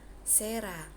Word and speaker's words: cera: Terus ada juga huruf C itu dibaca sebagai S jika diikuti huruf E, I, Y. Contoh, cera membacanya sera, citri membacanya citri, dan seterusnya.